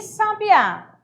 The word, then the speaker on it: sabiá: E sabiá, marcando uma palavra oxítona, que a posição está na última sílaba.